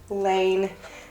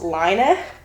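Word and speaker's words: Laine: This is by Lane, who I've now learned is actually pronounced Liner, but I just can't bring myself to say that because it just doesn't sound right to me.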